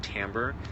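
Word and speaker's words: timbre: m b r e it looks like Tim but it's pronounced tamber sound quality is definitely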